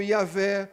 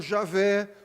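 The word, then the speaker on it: Yahweh: Eu quero dizer que quando Moisés usa essa palavra cuja pronúncia é debatida, uns pronunciam como Yahé, outros como Javé, outros como Yahué, não importa.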